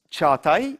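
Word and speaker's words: Çağatay: PhD thesis for defense so my name is Chuck I it is yeah that's any pronunciation is welcomed yeah but it's be fun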